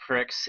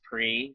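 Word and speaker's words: Prix: some of what Grand Pricks mode looks like I always pronounce it Pricks even though PE it's supposed to be pronounced pre because Pricks sounds funnier yeah by the way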